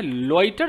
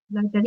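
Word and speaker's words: loiter: एक और वर्ड आता है लॉइटर, सुना है किसी ने? लाइटर, ये सर सुना लाइटर सुना। एक्चुअली लॉइटर, एक तो इसका प्रोनाउंसिएशन चेक करना, लॉइटर।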